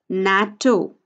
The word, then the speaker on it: NATO: Atlantic Treaty Organization is NATO n 80 o first letter of every word of the term is taken to form the acronym natto we pronounce it as a word the next example is